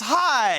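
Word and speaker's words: Hai: well a correct answer it rhymes with die it's high he pushed up DS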